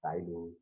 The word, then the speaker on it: ptyalin: It sometimes referred to as ptyalin. So other name of salivary amylase is ptyalin. The spelling is P-T-Y-A-L-I-N, where P is silent, it is spoken as ptyalin.